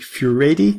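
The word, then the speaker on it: Furedi: 21st century that's by Frank fury ad I think you pronounce it he's an English academic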